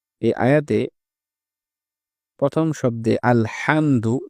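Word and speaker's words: الحمد: এই আয়াতে প্রথম শব্দে আলহামদু এ জায়গায় আমরা হাকে হা বলে ফেলি। অনেক সময় আমাদের উচ্চারণটা শোনায় আলহামদু। যেটি সঠিক নয়। সঠিক উচ্চারণ হচ্ছে আলহামদু বড় হা।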